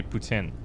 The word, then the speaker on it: poutine: a big thing but poutine is fine you can say poutine but in quebec they say putin isn't putin drunk food